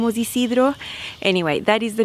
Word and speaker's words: Isidro: his last name was Ysidro anyway that is the name of the top Ysidro that's how you pronounce it in Spanish and this is a